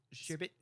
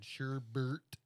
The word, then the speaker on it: SHRBT: Sherbet. SHRBT because I had to spell it like all the DJs spell their names. Well, there's no actual R at the end. Sherbert.